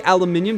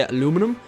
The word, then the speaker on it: aluminium: I'm going to say aluminium. That's how we say it. I know Americans say aluminum.